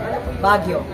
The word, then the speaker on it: Baguio: moss it's mosy forest when the Americans came they couldn't pronounce Bagui Bagw Baguio So that's where Baguio's name was derived from. Baguio.